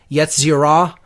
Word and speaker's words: Yetzirah: I would say if I were to give the correct pronunciations as closely as I know them to be, it's Asiya, Yetzirah, Bria, and Atzilut.